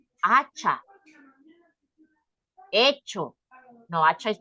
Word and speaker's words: hecho: So, hecho, yeah, hecho is with H, right? So we don't pronounce it, it's silence.